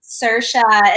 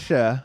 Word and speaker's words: Saoirse: name that is common time that's like often mispronounced. Saoirse is another one. You're like, oh, it's not like Saoirse or something. You're like, oh, so you say that? Saoirse.